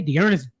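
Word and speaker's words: D'Ernest: get us started with deis Johnson okay deest Johnson you got to say it like that 133% rostered look this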